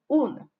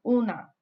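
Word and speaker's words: unë: So to say I, when you're talking about yourself, you say un. So make sure not to pronounce the at the end too much, but make sure that it is there, especially when you're writing.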